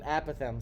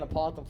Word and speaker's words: apothem: And the definition of an apothem, an apothem, sorry, there's like two different ways to pronounce this thing. I've been saying apothem for years, but I've found out just last